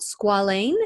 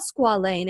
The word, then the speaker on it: squalane: that's a serum called squalane. Is it squalane? Yes, Am I pronouncing that correctly? Perfect.